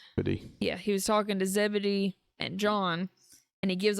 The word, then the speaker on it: Zebedee: And he came out and he was talking to Ze Zebedee, I think is how you say John and James' dad's name. Yeah, he was talking to Zebedee and John and he